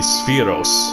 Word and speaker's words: Sephiroth: Several years ago I watched it, and he said the Jewish pronunciation of that word is actually Spheros. So, but in this game, Sephiroth is the ultimate badass fucking super soldier guy.